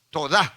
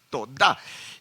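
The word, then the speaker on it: תודה: gratitud esta palabra Gracias es la palabra hebrea eh eh toda así así con acento en la en la a verdad toda y nos habla de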